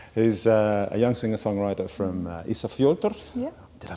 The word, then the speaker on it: Ísafjörður: Who's a young singer-songwriter from Ísafjörður. Yeah. Did I pronounce that correctly?